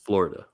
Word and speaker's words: Florida: florida florida florida florida three syllables florida there you go you